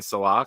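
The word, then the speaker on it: Saleh: name the right way I was always saying Salah because I figured it's like more Middle Eastern pronunciation he goes just say it like chicken Mar I go Salah he goes there you go you got it what exactly is Google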